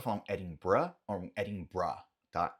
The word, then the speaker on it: Edinburgh: E apesar de Edimburgo em português ser dito assim, em inglês falamos Edinburgh, Edinburgh, Edinburgh. Você pode falar um Edinburgh ou um Edinburgh, tá?